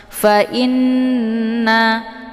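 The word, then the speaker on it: فَإِنَّ: Cara bacanya nunnya didengungkan, fa in, i-nya ditahan dulu sehingga lebih kurang 2 harokat, baru dileburkan ke dalam na ya, dengan terbentuk suara yang mendengung.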